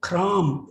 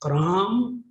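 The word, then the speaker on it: कर्म: When you say kram, the actual Sanskrit term is kram. Kram means action or act. Then when Tibetan, pronounce the kram or kam, then we say karma.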